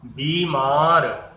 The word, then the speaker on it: बीमार: तुर्की, बीमार, इस बीमार में भी अधिकतर छोटी की मात्रा लगाते हैं, जबकि उसका उच्चारण क्या होगा, बीमार।